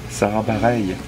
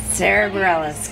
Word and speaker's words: Sara Bareilles: Sara Bareilles. I'll work on that. Sara Bareilles, kind of anything.